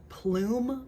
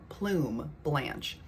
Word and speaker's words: Plume Blanche: I want to get my hands on Plume Blanche, I think is how it's pronounced. Not Plum, but I think it's Plume Blanche.